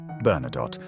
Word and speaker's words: Bernadotte: If you pronounce it correctly in French, the last letter is silent. Bernadotte.